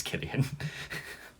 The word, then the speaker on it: Cillian: too was a killing say his name right it's killian cillian oh you silly